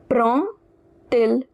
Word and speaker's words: prend il: So, now this D, it will be pronounced like T. So, the pronunciation will look like prend il.